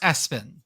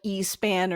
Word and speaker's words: ESPN: It's pronounced Espen. Espen. I was afraid it was going to be like E-span or something.